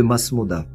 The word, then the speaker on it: Maṣmūda: Cette tribu berbère faisait partie de la grande confédération tribale qui s'appelle les Imesmouden en tamazirt, qu'on connaît mieux sous sa prononciation arabe de Masmouda.